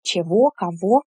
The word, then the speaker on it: чего: still pronounce it as why why do we pronounce the endings or adjectives and question words chavo as instead of actually before in the 15th